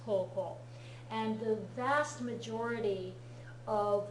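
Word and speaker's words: 高校: Do not be deceived by the fact that they spell it K-O-O in the Romaji in this textbook. It should be spelled K-O-U, K-O-U, to be more accurate to how it's actually spelled in Japanese, koko.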